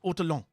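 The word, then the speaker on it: ortolan: o l a n I think it's otto long but in French it's probably otto long you know um and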